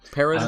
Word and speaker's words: Perron: Perron? That's the end. Yeah, it's about the Anglophone pronunciation. Yes. I just want to say now with the rolling R.